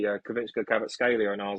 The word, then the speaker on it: Kvaratskhelia: I'm excited that you can say Kvaratskhelia better than I can.